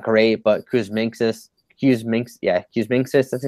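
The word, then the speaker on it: Kuzminskas: And then a punt player position, I mean, it's not great, but Kuzminskis, that's how to say his name.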